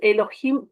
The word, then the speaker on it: Elohim: Elohim, claro, se escribe así, se pronuncia Elohim, ¿ya?